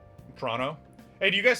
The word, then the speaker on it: Toronto: But I've heard that it's more like Toronto, right? I'm kind of rushing it a little, but it's real, Toronto.